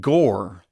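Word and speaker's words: Gorr: I also want to talk about that opening scene with Christian Bale playing a dude named Gore, which rhymes with Thor.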